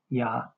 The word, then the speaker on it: Yah: This study concludes the correct pronunciation or transliteration of our creator's name is the contracted form Yah the full form Yahwh seola treasured possession.